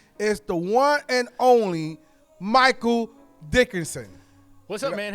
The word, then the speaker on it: Michael Dickinson: My guest today is the one and only Michael Dickinson.